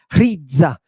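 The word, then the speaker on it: ῥίζα: God and look it's got a rough breathing RZA you've got to put a little puff of air oh you little puff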